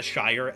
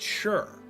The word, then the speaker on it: shire: And so they started to appoint their own reeves in small towns called, the Shire, Shire. That word is actually pronounced sure.